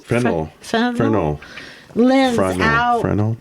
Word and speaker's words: Fresnel: Fresnel? Fresnel.